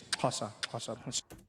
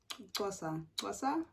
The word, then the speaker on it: Xhosa: languages with the clicks. Xhosa. Hey, Xhosa. Am I saying it right? I feel like I'm not clicking enough, but Xhosa.